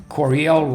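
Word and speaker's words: Coryell: Corel Corel rhymes with Bell and it's Corel right above Bell.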